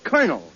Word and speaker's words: colonel: In military parlance, C-O-L is pronounced cur, as in colonel.